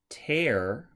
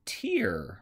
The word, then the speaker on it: tear: a word like this could be tear like tearing a piece of paper or tear like a tear drop from your eye a very common diphthong